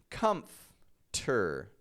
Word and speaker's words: comfortable: it as if it's comter comter I take the F and then I go straight to the T and then I rearrange